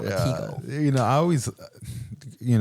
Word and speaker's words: Latigo: It's not Latigo Canyon. It's Latigo Canyon. Latigo. Yeah. Well, Latigo would be the Spanish correct way to say it. Really? Friend. Are you really? But if you're from California, you say Latigo. Oh, I thought it's Latigo. It's kind of like retina. Like Latigo.